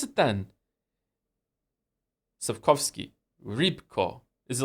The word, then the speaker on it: Sapkowski: How do you pronounce it then? Sapkowski.